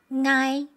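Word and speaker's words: 𠊎: It's the first person pronoun in Hakka dialect, pronounced as ngai. A back nasal consonant ng followed by a compound vowel I. Ngai. The consonant ng does not exist in Mandarin, but it's in many dialects.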